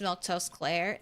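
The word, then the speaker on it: Milquetoast Claire: Uh, by the way, my name's Milkto Claire. That's how you say it.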